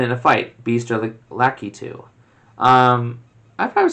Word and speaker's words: Lakitu: Second, is Lakitu pronounced Lacuti or Lakitu?